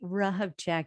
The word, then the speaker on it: Hrehovcik: show notes so say your name again and spell it slowly it's rahbjack you can find me on linkedin um or